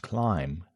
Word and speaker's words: climb: Silent B and climb, thumb, lamb was once spoken, but disappeared over time, though spelling didn't change.